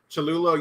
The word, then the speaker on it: Cholula: Cholula.